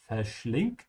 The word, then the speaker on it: verschlingt: Verschlingen is to devour, and remember to pronounce the V like an F. In German, most of the time, the V is pronounced like an F. Verschlingt.